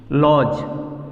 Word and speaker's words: lodge: जैसे अब यहाँ पे लिखते हैं एग्जाम्पल, लॉज, LODGE। तो देखिए यहाँ फ्रेंड्स कि लॉज है तो डी साइलेंट है, यहाँ पे डी के बाद जी ई आया, इसको हम लोग पढ़ते हैं लॉज।